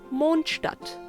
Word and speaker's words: Mondstadt: that's why your monster in german would be monstart monde means moon and stutt is just city so monstart directly translates into moon city when trying to pronounce these two words just remember to relax your jaw and make as much room in your mouth as possible moond just like as if you would say moon but with more than